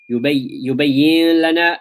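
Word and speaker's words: يبين لنا: and the lam clear, merge them and make the pronunciation easy. Yubayyin lana. But will there be nasalization? No. Yubayyin lana is incorrect. So this is an example of idgham without ghunnah.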